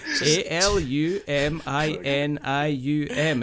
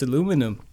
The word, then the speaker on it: aluminium: aluminium is you know a l u m i n i u m it's aluminium you go oh that's aluminum it's not there's no way there's no way even accidentally there too many syllables there I can't help